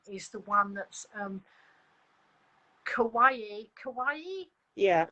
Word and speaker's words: Kawaii: Kawaii? Yeah. It's spelt like Hawaii, but with a bit like Hawaii.